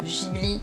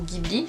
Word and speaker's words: Ghibli: petite sorcière des studios ghibli ou ghibli regardez les deux prononciation sont acceptés bon je vous cache